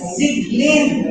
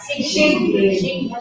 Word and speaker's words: Sieglinde: Okay, so, my pronunciation is Sieglinde, kung German talaga. Pero nasa Pilipinas kita, kaya Sieglinde. Yeah, Sieglinde. So, silent E.